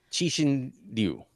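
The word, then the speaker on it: Cixin Liu: Chi-Shin Liu.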